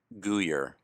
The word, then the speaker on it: Guyer: Pronounce the last name for us once and for all. Guyer.